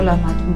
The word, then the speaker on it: lahmacun: Different languages में different इसके pronunciation है, लेकिन ज़्यादातर इसको लाहमाचून कहते हैं।